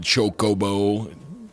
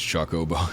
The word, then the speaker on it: Chocobo: I like chocolate, so it's Chocobo. Yeah. Well, I don't know. Yeah, I've always pronounced it like chocolate.